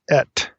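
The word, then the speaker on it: את: comment about our little two- particle word it's pronounced ET so it's olav ET so when I say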